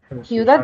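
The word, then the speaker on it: ciudad: حاجه بيقولدو مش احنا قلنا ان السي بعديها اي او اي تبقى بتنطق ساء ا ا ا فسيوودد تمام دي اول حاجه سيوداد دي يعني بلده او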